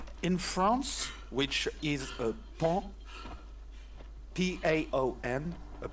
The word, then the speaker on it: paon: In France, which is a paon, P-A-O-N, a paon. Yeah, a peacock in France is pronounced paon. Pon. Paon.